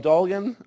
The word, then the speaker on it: Doan: have um Mr Doan or Dolan or Doan gosh okay the more obvious less French pronunciation welcome Mr Doan thank you hello everybody my name is Doan uh I come to